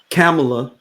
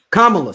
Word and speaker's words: Kamala: getting upset if uh camela am I saying it right Kama Kamala sorry I'm getting I'm getting it